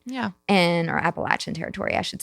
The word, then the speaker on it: Appalachia: I know in school they teach you Appalachia. It's not. It's Appalachia.